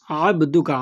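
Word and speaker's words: عَبْدُكَ: আবদুকা বলবেন না, আবদুকা, আইন এখানে, আবদুকা।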